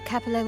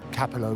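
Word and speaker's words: Capollo: that Carlota but also everybody the guy himself included pronounced Uncle capoo Capo Capo montelli while the lady at the front desk pronounced Mr collo is not in the vault this is not an Italian word it's an Italian looking one but the lady at the front Des pronounced it better Capo although every time I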